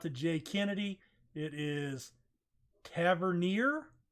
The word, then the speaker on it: Tavernier: thanks go out to Jay Kennedy it is Tavernier Tavernier all right first off pronunciations is not what I'm in the game